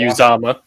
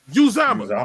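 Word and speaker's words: Uzomah: CJ Uzama. Uzama.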